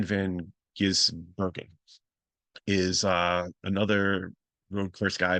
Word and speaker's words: Van Gisbergen: Shane Van Ginsbergen, let me say it wrong, I'm sorry. Shane Van Gisbergen is another road course guy, but he's still getting used to his Xfinity.